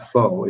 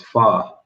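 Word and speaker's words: phở: and he said oh it's not faux it's far and i'm like yeah yeah i've heard that before i understand but but it's spelled p-h-o so if you go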